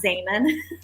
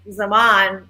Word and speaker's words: Zaman: I mean, everyone pronounces it Zaman because in Turkish, Zaman is pronounced, it means time. And that's how it is pronounced.